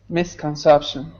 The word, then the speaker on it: misconception: good by the way careful with the first syllable it's not it's Miss like Excuse Me Miss Miss conception this in English is a like a throat sound and because you say me that's in your mouth but this one's more